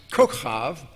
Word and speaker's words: kochav: Abraham 3:13 defines kochav, which is the correct Hebrew pronunciation, as star, and kochavim as stars, or all the great lights which were in the firmament of heaven.